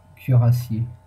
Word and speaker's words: cuirassier: How do I say that? Cuirassier. That's how you say it. That's how you say it properly.